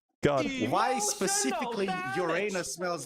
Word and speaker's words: Uranus: So, hey, so mythical gold art, you realize that it's called Urronos. No, it's called Uranus. How do you pronounce it in English? In in English, you pronounce it Uranus.